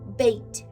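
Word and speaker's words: Beth: The Hebrew letter associated with a magician is B-E-T-H, pronounced bait. Bait, B-E-T or B-E-T-H.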